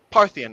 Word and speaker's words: Parthian: A Parthian shot? Parthian, as in the Parthian Empire.